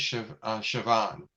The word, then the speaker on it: Chabon: I think it's Chavon, because the way the B is supposed to be like a V.